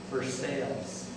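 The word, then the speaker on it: Versailles: signed very prestigious but folks there in harisburg pronounce it for sales we know it's Genoa Italy but they pronounce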